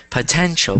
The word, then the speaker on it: potential: Potential. Perfect. But that's the same pronunciation or same pronunciation in a way, but it ends in T-I-A-L. So that word is pronounced potential. So repeat.